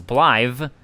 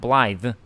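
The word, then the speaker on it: Blaidd: is also pronounced as blive which is what i was saying according to appenbard it's welsh and well should double d at the end of a word gets pronounced as a th sound blythe still sounds like they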